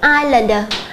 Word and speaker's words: islander: em chú ý là âm S là âm không được phát âm chúng ta sẽ không đọc là is Chúng ta đọc là islander câu D câu c